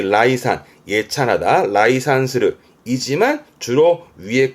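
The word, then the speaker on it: 礼賛: 위엔 전부 다 레로 가는데 예만 라이 가서 발음이 라이산, 예찬하다, 라이산스르 이지만 주로 위의 단어들을 많이 보게 되셔요.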